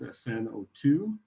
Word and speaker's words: sn02: so my name is sn02 i always help people with the pronunciation it's just like the letters s n together s n and the